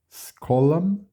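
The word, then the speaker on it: scholam: Podemos perceber que o SCH tem um som de sk, né? Como se fosse um SK, skolam.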